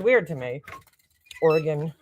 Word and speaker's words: Oregon: sounds weird to me Oregon Oregon we say Oregon here like when we were kids we used to play that game Oregon Trail that's how you say it here Oregon sounds weird and